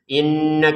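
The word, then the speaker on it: إِنَّ: Inna kita dengungin ya. Inna dua harakat saja jangan berlebihan. Karena berlebihan itu tidak boleh.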